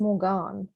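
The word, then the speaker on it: Morgaine: the main character morgan written m-o-r-g-a-i-n is actually just pronounced morgan because morgan is the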